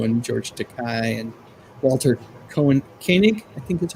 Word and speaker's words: Koenig: Probably would have been nice to have her on the show, and George Takei and Walter Koenig, I think that's how you say it. Koenig.